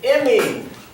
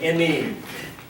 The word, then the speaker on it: imine: Not amine, or just amine, but it's spelled with an I.